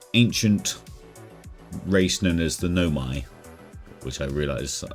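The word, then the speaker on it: Nomai: race known as the Nomi, which I realized. There's my little pronunciation. I've been calling it Nome, I think, or something. Nomaya or something like that.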